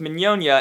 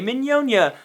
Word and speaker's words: Mignogna: This is because my last name is pronounced Mignogna, and when I was auditioning for the group they go, "Oh, how do you say your name?" And I say, Mignogna, like filet mignon.